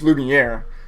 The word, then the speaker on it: Lumiere: Did I say it right? Lumiere? Just Lumiere. No S, no E.